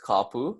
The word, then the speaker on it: kapu: that area as well couple who's gonna be pronounced as kapu so it's fairly easy to pronounce for all of you once again